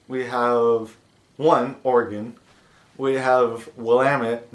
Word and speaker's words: Oregon: it is not pronounced Aragon or Oregon but it's pronounced organ kind of like organ like in your body like you got different